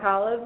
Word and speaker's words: Kalev: And it's my pleasure to introduce Kalev Peekna. If you've never met Kalev before, you can remember how to pronounce his name. It rhymes with olive.